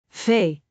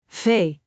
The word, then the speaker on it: V: Fay. A common mistake is confusing. Fay. with F. Make sure to pronounce Fay with a slight vibration of the lower lip against the upper teeth.